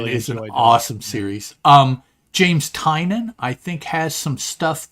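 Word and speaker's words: Tynion: but now I don't I think it's tinan yeah because that's why his newsletter is called tiny onion tiny onion yeah I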